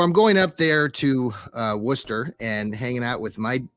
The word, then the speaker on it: Worcester: And so I like to say Wooster. And a lot of you like to say Wooster if you first see it, because it does look like the word rooster, and it's spelled the same way.